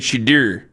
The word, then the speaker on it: Shedeur: some point, by the way, is the correct pronunciation, Nick. You're mad at him saying Shedeur.